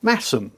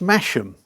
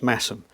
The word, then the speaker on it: Masham: And uh and then I sort of popped along to a village called um Massum, pronounced Masheam. No, spelled Mashem, pronounced Massum, home of Black Sheep Brewery.